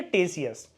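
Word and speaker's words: Ctesias: है इंडि ऑफ टेसिस यहां पर जो के वर्ड है वोह साइलेंट है इसकी प्रोनंसिएशन होती है टेसिस यह एक हिस्टोरियन भी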